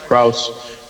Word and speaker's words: Krause: Am I pronouncing your name correctly in the... Yeah, that's correct. Krause.